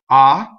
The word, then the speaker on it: ah: is an interjection and most interjections are strong mono syllables so a strong model syllable is a one syllable word that will cause the next word if it starts with a consonant to double and AH is one of these words if you notice I